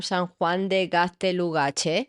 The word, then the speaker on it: San Juan de Gaztelugatxe: And we started talking about, and I'm going to say it right this time, San Juan de Gaztelugatxe.